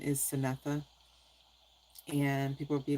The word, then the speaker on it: Synetha: Like my first name is Synetha. And people would be like, "Syn?" Yeah, cuz they see it's spelled c y n.